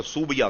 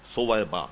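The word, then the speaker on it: ثویبہ: کا نام سویبا تھا، جس کا تلفظ لوگوں نے بگاڑ کر سوبیا کر دیا، اصل تلفظ ہے سویبا، یہ سا سے.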